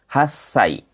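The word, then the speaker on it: 八歳: Lalu ada juga di usia 8 tahun dia jadi hasai seperti itu.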